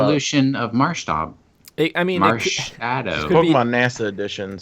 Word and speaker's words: Marshadow: The third name, which was trademarked, was Marshadow. M-A-R. Shadow, the word shadow. So that's a little bit simpler, I think. Are you sure it's not Mars Hadao I Mars Haddow.